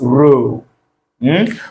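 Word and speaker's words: rho: Pronounce it as row H.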